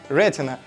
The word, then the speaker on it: Retina: дисплея с технологией Рена мы будем ставить ударение на первый слог Рена уж Кому как не